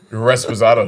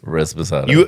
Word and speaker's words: Reposado: Res Posado shots. You're dumb. Reposado.